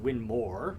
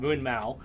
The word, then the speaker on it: Winmau: of different things from winmau which is actually pronounced winmore but you know most most Americans will count we'll call it Moon Mau um Target shot Dart